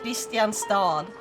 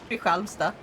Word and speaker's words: Kristianstad: I will never understand why it's not pronounced Kristianstad. Like, that's how it's written. And then it's like, Kristianstad. Like, what? Makes no fucking sense.